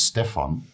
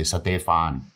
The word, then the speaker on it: Stefan: bit of an alias my real name is Stefan but when I came to Thailand nobody could nobody could pronounce it here right Stefan is a Dutch name so Steve is very American so when I came to Thailand nobody could pronounce my name they would say satephan which made my ears bleed yeah horrible made my